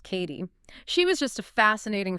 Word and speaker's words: Cady: And for everyone listening that's pronounced Katie.